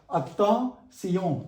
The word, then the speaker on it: attention: In French, T-I-O-N spelling is pronounced as sillon. Attention, that is attention.